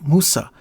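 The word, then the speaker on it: موسى: the Arabic just as Moses is pronounced in Arabic Musa while its original Hebrew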